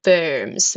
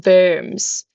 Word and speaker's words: Worms: So the other two being spire spire and uh city verms verms spelled like worms but pronounced German.